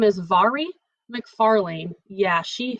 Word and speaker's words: Mhairi: It's called If I Never Met You, and her name is Mhairi McFarlane. Yeah, she says on the back of her book, her unnecessarily confusing name is pronounced Mhairi.